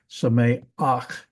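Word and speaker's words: שמח: And because it's a furtive patak, notice I say Sameach. The vowel actually comes ahead of the letter.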